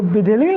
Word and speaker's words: विधिलिंग: ये अंगा है, इसमें ना और ग दोनों का उच्चारण एक साथ आ जाता है। विधिलिंग ना उच्चारण करेगा तब अपने आप हो जाएगा इसका।